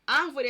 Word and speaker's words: árvore: Árvore é acentuada por ser proparoxítona. Então, árvore, a tonicidade está na antepenúltima sílaba, por isso o acento.